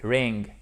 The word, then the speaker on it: wring: ok wright est lassé ring qui se prononce exactement comme sonné touring d'accord dring dring dring